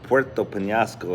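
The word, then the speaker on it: Puerto Peñasco: Rocky Point Mexico BOS Rocky Point or Puerto pinasco is how they say it actually I love my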